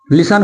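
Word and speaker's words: listen: अगर किसी वर्ड के, यदि किसी वर्ड के लास्ट में क्या है, टी एन आए, टी ई एन आए, तो यहां पर टी का उच्चारण नहीं किया जाता है।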